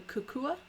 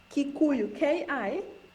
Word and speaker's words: Kikuyu: And then the Kukua? Kikuyu, Kikuyu, Kikuyu.